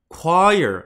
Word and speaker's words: choir: And we've just confirmed that the Central High School choir, 우리 코러스라고 하는 거였죠. 그거 영어로 choir라고 읽거든요.